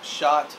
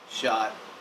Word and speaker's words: Schott: uh today we're going to talk about some shot NYC jackets we're going to uh go over